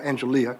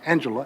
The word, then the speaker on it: Angelia: Washington, except that she actually is called Angelia, not Angela, as Dr.